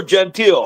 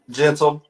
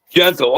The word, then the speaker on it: Gentle: So we have with us Gentle or Gentile? How do you say it? Gentle. Yep. Gentle.